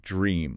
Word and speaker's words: dream: It starts with a strong D and R consonant cluster. Dra. It almost sounds like a soft J sound at the very beginning. Dra. Yeah, like dream almost. Exactly. And then a long E sound like you're smiling. Dre. Dream. Say it out loud right now wherever you are.